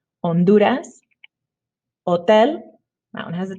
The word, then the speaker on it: Honduras: tapas good job okay h is silent in spanish um and just don't pronounce it pretend like the word starts with the vowel instead so please repeat honduras and remember the d so honduras has an h but